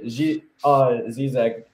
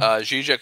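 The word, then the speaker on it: Žižek: But but it's interesting you mentioned Zizek, or how's it pronounced? Zizek, yep, you got it.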